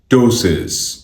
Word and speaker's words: Ptosis: इस वर्ड की प्रोनाउंसिएशन है टोसिस, टोसिस, टोसिस, टोसिस, टोसिस, टोसिस, टोसिस, टोसिस, टोसिस.